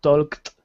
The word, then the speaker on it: talked: It's pronounced like a T. For example, talk and talked, walk, walked, love, loved, cough, coughed, kiss, kissed, brass, brassed.